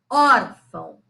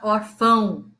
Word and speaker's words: órfão: Órfão, órfão. Ninguém fala orfão, a gente fala órfão. Então, a sílaba tônica é a penúltima, tá?